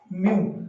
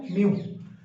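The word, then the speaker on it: mu: इसके लिए जो सिंबल है, इट इज not from English, it is from Greek, म्यू। क्या प्रोनाउंसिएशन है इसकी? म्यू, मतलब इसकी साउंड क्या है? म्यू।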